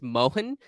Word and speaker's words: Mahan: of the last name it's just mohan it's a short a yeah got it i